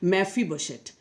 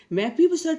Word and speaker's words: Mephibosheth: How would you pronounce this? Mephibosheth. Mephibosheth was only left in that house, and he was lame in both the feet.